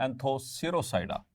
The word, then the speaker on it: Anthoceropsida: एंथोसिरोप्सिडा या फिर इसको एक और तरह से प्रोनाउंस कर सकते हैं एंथोसिरोसाइडा। सब पीस को साइलेंट कर दें।